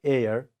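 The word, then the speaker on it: heir: This H also, ha sound is also not pronounced, and this ra sound is also not pronounced. It is only A. All of you pronounce, please. A. And if in American way you want to pronounce, you can say air. Raw sound can be produced, okay, pronounced air. But here, according to British pronunciation, you have to pronounce as A.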